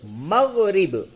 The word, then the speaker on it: مغرب: مغرب، میم غین زبر مغ، رے بے زر رب، مغرب. مغرب کے معنی کیا ہوگا؟ جی ہاں، پچھم. جس طرف رخ کر کے آپ نماز پڑھتے ہیں اس کو مغرب کہتے ہیں، اور اسی